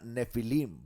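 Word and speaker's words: Nephilim: Nefilim en el idioma hebreo es la palabra nefilim, va con pH. Nefilim, pero se pronuncia nefilim.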